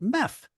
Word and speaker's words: MEF: of strategic programs at MF they pronounce it MEF satellite has often been